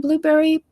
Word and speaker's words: Blubrry: And Blueberry PowerPress, which is it's spelled Blubrry, PowerPress.